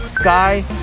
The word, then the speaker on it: Sky: The first one is called Sky. I know it's spelled like ski, but it's pronounced Sky.